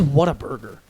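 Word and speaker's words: Whataburger: life though what is what a burger water burger what what a burger it's a restaurant it's pronounced water never had it it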